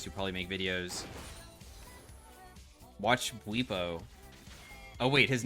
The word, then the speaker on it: Bwipo: Watch Bwipo.